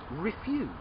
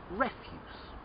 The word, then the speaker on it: refuse: you don't want it you refuse to say no to refuse but another word for rubbish or litter is refuse refuse okay rubbish refuse to